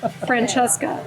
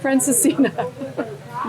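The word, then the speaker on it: Francesinha: Portuguese Francesca. No, Fran, how do you say? Francesca. Franciscina.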